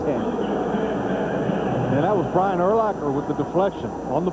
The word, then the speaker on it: Urlacher: Is it Urlacher? It rhymes with linebacker. Urlacher.